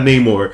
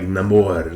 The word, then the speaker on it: Namor: I love how they say it like that. Not Namor, which is also his name, but like Namor, like without love.